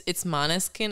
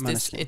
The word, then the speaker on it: Måneskin: It's Måneskin. It's Måneskin.